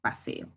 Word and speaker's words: paseo: en el caso de la palabra paseo tenemos una palabra grave si la mayor fuerza